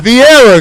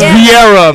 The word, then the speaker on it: Viera: It's Vieira, goddamn. It's Vieira, believe me. Right. What did I say it wrong? Nah, Vieira's good. Vieira. Yeah. Vieira. Put the roll in the R.